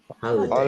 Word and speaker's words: holiday: Nanti enggak ada yang baca die ya, Guys. Soalnya kalau die sudah maknanya beda nanti ya. Day bacanya ya.